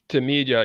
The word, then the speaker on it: Tmeedyah: And Brother Yah, do you mind if I call you Brother Yah, or how do I pronounce it properly? Tmeedyah. Huh? Tmeedyah.